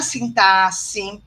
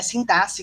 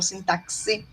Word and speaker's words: sintaxe: E isso vai variar no léxico, na fonética, na sintaxe, tá bom? É sintaxe que se pronuncia, não sintaxe, tá bom? Sintaxe, como se tivesse um C aí, tá bom?